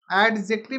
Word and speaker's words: adjective: एडजेक्टिव नहीं बोल रहे हैं। पहली बात को ध्यान रखिएगा। एडजेक्टिव यहां पे डी साइलेंट होता है।